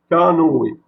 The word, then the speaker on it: canoë: Et lorsqu'on a mis le tréma, les deux points sur le E va devoir se prononcer E. Et ça devient canoë.